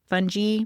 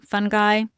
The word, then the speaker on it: fungi: Fungi, fungi, doesn't matter, however you say it.